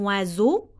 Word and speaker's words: oiseau: La lettre S se prononce Z, c'est comme oiseau et c'est comme maison.